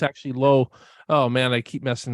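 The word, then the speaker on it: Lauw: uh Allison and Lorraine nicolu Nicolo I keep mispronouncing her name and Nicholas I thought it was Lao originally then I thought it was blue corrected me it's actually low oh man I keep messing that up I'm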